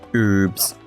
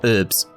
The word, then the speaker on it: herbs: them some herbs because they don't pronounce H outside of Britain apparently are they might do in Canada let me know you say herbs in Canada or herbs I'm hoping you say herbs and some are unhappy